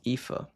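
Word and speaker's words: Aoife: Pronounced Epha. An Irish naming name meaning beautiful or radiant.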